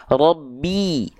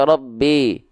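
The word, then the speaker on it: رَبِّ: Nah, berarti kita lafalkan Robbi, Robbi. Jangan sampai Robbi, B, B, B. Rendahkan rahang bawah, angkat tengah lidah, sempurna harokat kasrohnya, bunyi vokal i-nya.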